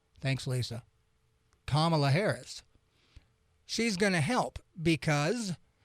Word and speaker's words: Kamala: barbara lee and what kamala rhymes with comma thanks lisa kamala harris she's gonna help